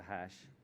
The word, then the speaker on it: HASSH: digest of that and we end up with the hash which is pronounced exactly the same way so that's basically what